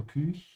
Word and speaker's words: Küche: Die Küche, make sure to pronounce it with an open mouth without any vibration in the back of your throat. Because the CH comes after an Ü. So Küche, ja.